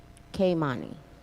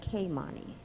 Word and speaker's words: Kimani: is Taj zylik and Kimani K Mani yes sir so many beautiful pronunciations that is k money as I leak my name is Kimani my name is Taj